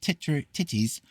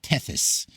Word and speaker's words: Tethys: These came forth from Ocean and Titis as the oldest, I would call it Tethys, but it apparently pronounced Titties.